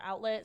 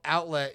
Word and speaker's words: Owtlet: So the outlet, you spell it like OWT. It's like almost like an owl, but where does that come from?